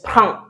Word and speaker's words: prends: Okay. And then I'll take a last word is "prends". "Prends". Okay. "Prends" to take. It's not "prends". "Je prends". No, it's not "Je prends". "Je prends". Right.